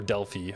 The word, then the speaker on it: Delphi: it's probably pretty normal for Delphi as well or Delfy however you want to pronounce it is it was like